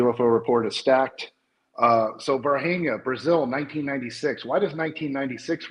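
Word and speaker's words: Varginha: to pronounce this wrong, Virginia. Virginia? No, it's Varhania.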